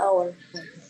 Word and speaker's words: hour: it or one hour foret yeah it's it's hour okay yeah hour H is silent right thank you H for Shing uh